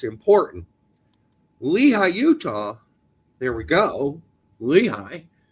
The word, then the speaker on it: Lehi: Yeah, because when I go on about pronunciations is because it's important. Lehi, Utah.